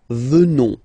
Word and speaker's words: venons: At the present form, final S not pronounced, so you will get the sound venons, nous venons, nous venons.